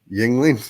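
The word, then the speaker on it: Yuengling: Yingling. Yeah. Ying. How do you spell that?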